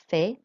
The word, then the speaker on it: fais: So you'll notice with that, the S is not pronounced on fait.